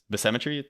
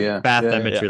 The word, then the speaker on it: bathymetry: Cause I didn't read this bathymetry, that's how you pronounce it. It's like bathymetry, like beat with bathymetry.